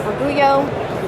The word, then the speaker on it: Orgullo: We have it here as a way to show how to pronounce Orgullo, We have it on the back as well.